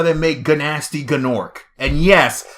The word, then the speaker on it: Gnasty Gnorc: And yes, I am the one who pronounces him Gnasty Gnorc. Because when I was a little kid and I didn't know any better, I pronounced it exactly as I saw it, Gnasty Gnorc. Even though I know it's Nasty Gnorc.